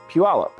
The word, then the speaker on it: Puyallup: And first things first, it's pronounced Puyallup.